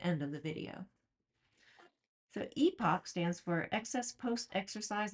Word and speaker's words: EPOC: So, not only does epoch rhyme with Spock, but much like how Mr.